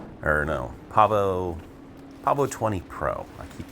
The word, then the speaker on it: Pavo20 Pro: After freshly wrecking my Pavo Pico, or no, Pavo20 Pro.